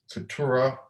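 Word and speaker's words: Keturah: is now takes he takes another wife uh katura i pronounced it right right you are ah and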